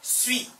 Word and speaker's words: suis: Je suis. S 발음 안 나오고. Je suis.